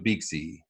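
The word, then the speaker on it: Beaxy: I think, we know some guys that are doing Beaksy. That's how you say it, right? Beaksy?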